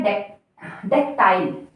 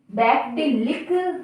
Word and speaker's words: dactylic: Next है, इसका pronunciation है डेक्टाइल, डैक्टिलिक। इस तरह से हम इसे पन्नन नहीं करेंगे जिस तरह की स्पेलिंग लिखी है, पर इसका प्रोनंसिएशन है डेक्टाइल, डेक्टाइल, डेक्टाइल।